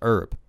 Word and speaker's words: herb: heads that it's pronounced herb. You don't pronounce the H.